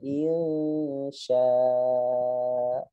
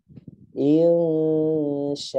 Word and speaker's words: insya'a: Kebanyakan bacanya begitu. Sya, karena dianggap itu hamzah, gitu kan. Nggak ngelihat fathatainnya. Padahal ya dia hukumnya mat iwad, harus dibacanya panjang mat. Ya, panjang mat, ya. Insya'a, begitu bacanya.